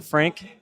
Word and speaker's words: Frank: First and last name, Frank Lesniak, Lesniak, rhymes with Cadillac, as you know.